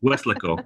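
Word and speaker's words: Weslaco: Okay, so Kathleen Bryan says I am mispronouncing Westlaco. Sorry about that. Westlaco is how people here say it.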